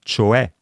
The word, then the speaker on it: cioè: Mentre con l'accento grave si scrivono parole come cioè, che si pronuncia appunto con la E aperta, oppure caffè, e naturalmente la terza persona singolare del presente del verbo essere.